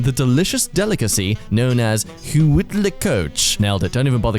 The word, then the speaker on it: huitlacoche: expand and become the delicious delicacy known as huitlacoche.